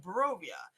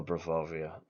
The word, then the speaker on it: Barovia: We played modules from the series of Barovia. If you guys don't know what that is No, God. Ravenloft. Hmm? Say, I know Bravovia.